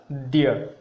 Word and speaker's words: द्य: वो लोग समझते हैं कि ये घ है, या फिर कोई कोई इसको ह के साथ आ की मात्रा ऐसा भी समझते हैं, लेकिन ये पूरी तरीके से गलत है। इसका उच्चारण होगा द्य।